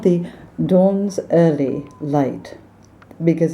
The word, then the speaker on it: Donzerly: And Americans tend to pronounce Donzerly as if it's one word. Donzerly. What kind of light is it? Donzerly.